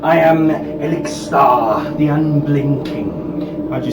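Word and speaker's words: Ixilthar: I am Elixir, the Unblinking. How'd you spell that?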